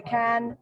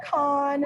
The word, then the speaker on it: Cannes: So Cannes has and I learned the proper pronunciation is to say Cannes. Yes. Not Cannes. Which you just said.